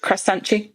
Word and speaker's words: croissant: I use an app called Croissant. You want to pronounce it as, depending on your nationality. My favourite one is Brazilians and the way they say croissant. What do they say? Croissante.